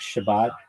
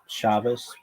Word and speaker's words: Shabbat: means that you respect Shabbat, Shabas. And uh when I say Shabbat, that's the um that's the sphartic way of saying it.